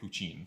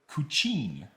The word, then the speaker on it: Kučin: So let's start with Tnakɛ Kučin.